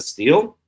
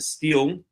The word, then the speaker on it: stele: So first of all, let's take a look at this Merneptah Stele. There it is, and a stele, or Stele, I think it's really pronounced, but I always pronounce it stele.